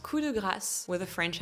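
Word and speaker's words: coup de grâce: It's pronounced cuda grass with a French accent or cuda grass if you have an American accent just like the grass in your backyard.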